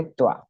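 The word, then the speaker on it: क्त्वा: और फिर वा है पर इसको पढ़ने का तरीका त्वा क्योंकि क आधे का आप स्टार्टिंग में साउंड कैसे लाओगे कत्व ऐसा तो कुछ कत्व ऐसा बोला अटपटा लगता है वैसे इसका उच्चारण वही है तो पहला प्रत्यय जो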